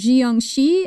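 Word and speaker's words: 僵尸: And this one is pronounced, I've actually heard it pronounced two ways, Jiangxi and Jiangshi.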